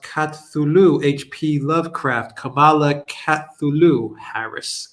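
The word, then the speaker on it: Cthulhu: uh chat hulu is pronounced katsulu hp lovecraft kamala kathulu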